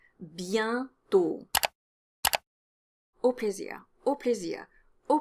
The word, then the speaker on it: bientôt: There's a nasal vowel in bientôt, and the pronunciation is yen. Bientôt.